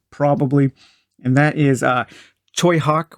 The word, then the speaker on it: Tsui Hark: and that is uh toyhawk which is his name is is spelled tsui hark so you've heard his name mentioned on the dungeon dive before tsubi heart choi hak and ching shudong uh